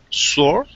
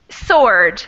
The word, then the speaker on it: sword: work wart mhm and that word sword at the end has a silent w in it another very irregular and strange way to pronounce something but we don't pronounce the W sword sword sword sort Christina can